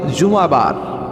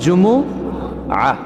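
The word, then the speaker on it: جمعة: বলি আসলে বলা উচিত জুমাবার কি জুমাবার سورہটার নাম হচ্ছে সূরাতুۃ الجمعہ আমার সাথে সাথে বলেন সূরাতুল জুম সবাই বলেন সূরাতুল জুম অনেকে বলে ফেলে জুমা জুমা আসলে আরবিতে শুদ্ধ উচ্চারণটা হচ্ছে জুমু আহ সূরাতুল জুমু আহ এই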